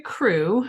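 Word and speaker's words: krewe: to the fact that every crew which is actually spelled with a k r e w e every crew is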